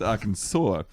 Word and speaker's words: Arkansas: It's actually, you know, it's spelled R Kansas, but it's pronounced Arkansas.